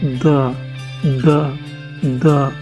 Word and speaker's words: the: Pronounce করতে হবে TSE দি, দি, দি, দি। ওকে, clear? আর TSE এর পরের ওয়ার্ডটা যদি কনসোন্যান্ট দিয়ে শুরু হয়, তাহলে আপনাকে উচ্চারণ করতে হবে দ্য, দ্য, দ্য।